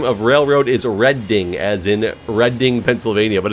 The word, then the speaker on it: Reading: guess I don't know monopoly was the correct pronunciation of Reading Railroad do a reading I just read it as reading because of habit the credit way to pronounce the name of railroad is a red ding as in Reading Pennsylvania but it's funny it